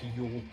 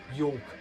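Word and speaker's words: yolk: a kind of black Yol not sure why I pronounced the L so prominently there Yol um but yeah really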